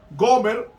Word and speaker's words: Gomer: Y entonces vemos que la mujer de él se llamó Gomer, o Gomer, como se pronuncia en el hebreo, Gomer, y Gomer tuvo una